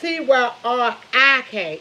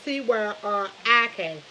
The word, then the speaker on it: Tyrik: It's Tyrik. It's not two. It's not a. It's Tyrik.